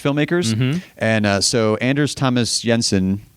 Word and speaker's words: Jensen: I have that same obsession with Danish filmmakers, and so Anders Thomas Jensen. Or Jensen, if I want to pronounce it with my American tongue, I guess.